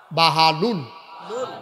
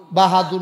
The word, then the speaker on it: বাহালুল: হাল লুল কিল বাহা সবাই স্পষ্ট উচ্চারণ করো বাহা বাহালুল লুল বাহাদুর না বাহাদুর না বাহা বাহা বাহা নামটা